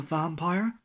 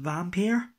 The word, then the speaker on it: Vampyr: as you can see it's four vampire or I believe it's pronounced vampeer either wonder that's a